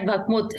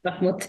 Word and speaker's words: Bakhmut: But as we speak, I think there is action at Bakhmut. Have I pronounced it right? Yes, you have. Bakhmut.